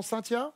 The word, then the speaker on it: Cynthia: On prononce Très ça bien. comment? Cynthia?